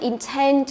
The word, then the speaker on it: intend: Intend thì nó đi theo công thức là intend to do something, có nghĩa là có một cái ý định làm gì đó, ý định làm gì. Intend đúng không? Trọng âm thứ hai nhé, intend.